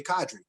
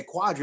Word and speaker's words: Qadry: tough time pronouncing cadre there's no you in my name it's just simply cadre and people would say quadri all the time and i was like